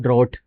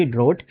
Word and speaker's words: drought: Pronunciation दोनों की समझने की कोशिश करो, इसको बोलते हैं हम लोग ड्रॉट, DROUGHT, ड्रॉट।